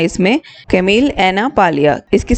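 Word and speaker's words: Camille Paglia: एन ए और पैलिया पी ए जी एल आई ए इसमें जी silent है तो इन्होंने बहुत हारशली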